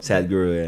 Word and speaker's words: Sadhguru: I saw um at Tomorrowland you talked to um excuse me if I pronounce the name wrong. Sa- Sadhguru? Sadhguru, yeah.